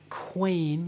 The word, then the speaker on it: Quain: side of the page i realize i haven't pronounced his name very well so i'm going to say it again kevin quain you spell his surname q-u-a-i-n and if you search